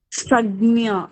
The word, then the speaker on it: संज्ञा: Not samya. Sanya. Sagnya. Okay, ma'am.